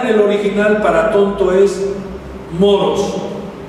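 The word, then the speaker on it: μωρός: original para tonto es moros así como moros y cristianos con acento en la o moros y esta palabra pone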